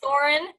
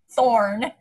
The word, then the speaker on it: Thorin: I still call Thorin Thorn. So, because, I mean, he was annoyed. So I was like, oh, he's a thorn.